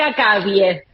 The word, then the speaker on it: Akawie: Bastante bien lo dijiste, se dice Akavie. Ah, me faltó la Akavie, yo dije Akavie, me faltó la acentuación. Bueno, Pero como soy la